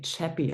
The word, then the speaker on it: Chappi: of dog food uh I thought it was French but I think it's um it's actually German and it's spelled a bit differently it's actually chappy I think like c-h-a-p-p-i but I really like the